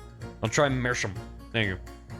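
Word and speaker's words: Meerschaum: It's the German for seafoam. Oh, it's pronounced like mer. I'll try mercham.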